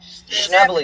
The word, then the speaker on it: Schnebly: Schnebly. It's spelled S-C-H-N-E-B-L-Y.